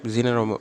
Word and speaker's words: Zener: அதனால் மொபைல் சார்ஜஸ்லேயும் நிறைய ஜீனர் diodes வந்து யூஸ் பண்ணிக்குவாங்க. ஸோ ஜெனார் diode, ஜெனார் diode, ஜீனர் diode எப்படி வேணாலும் ப்ரொனவுன்ஸ் பண்ணிக்கலாம், இதெல்லாம் தப்பு இல்லை.